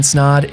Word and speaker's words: Snod: My name is Snod. It rhymes with odd, and I'm out.